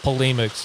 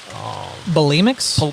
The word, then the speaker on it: polemics: It's a lot of it's mostly a lot of polemics right now. Bulimics? Polemics. Like people throwing up? No, it's like criticism of other positions, other I faiths. see. So polemics. I mispronounced polemics.